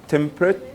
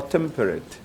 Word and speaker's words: temperate: the word temperate now dictionary gives you two pronunciations temperate two syllables or temperate three syllables and because this rhymes